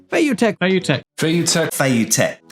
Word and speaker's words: Feiyu: Now you can see from these guys' pronunciations, Fayutech. Fayutech. Fayutech. Fayutech. it's not actually that much different to the actual Chinese pronunciation, but the Chinese pronunciation, because Chinese is a tonal language, needs to be said Feiyu.